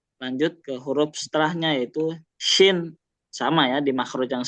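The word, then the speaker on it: شين: Kalau di bahasa Indonesia kita mungkin menulisnya SY ya. Jadi sh gitu. Dan dia cenderung senyum. Pelafalan shin itu. Sha, shi, shu. Jadi jangan monyong ya.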